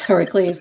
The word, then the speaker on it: Heracles: Where the other pronounce. If you say Heracles and somebody thinks I'm having a seizure or something, it's Heracles.